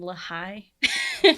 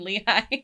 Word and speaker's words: Lehi: they would ask him where nephew was and lahai and those are pronounced Nephi and Lehigh that made me think